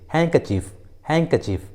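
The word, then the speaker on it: handkerchief: उसी तरह डॉज, वहीं कुछ कॉमन इंग्लिश वर्ड्स में डी का उच्चारण नहीं किया जाता, जैसे वेंसडे, हैंकचीफ, हैंडसम।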